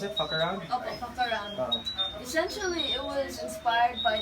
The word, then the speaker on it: Fckroun: Is that how you pronounce it, Fckroun? Okay, Fckroun.